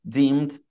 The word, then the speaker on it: deemed: Então, como eu digo, lucro presumido em inglês, Deemed Taxable Income Method. Deemed Taxable Income Method. Sempre cuidado com essa terminação ED. É um típico erro, assim, bem brasileiro, fazer essa pronúncia muito forte.